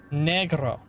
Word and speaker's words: negro: Usually pronounce the E as an A as in say. Ah. So it's negro for you then.